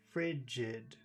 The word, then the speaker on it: frigid: are usually very important there are two syllables in frigid frigid the first syllable is Big it's the accented syllable frigid her and stare